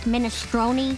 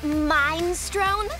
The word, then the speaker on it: minestrone: i get his mind strong uh lenny it's pronounced minestrone i call it mind strone because it's mop a door in the kitchen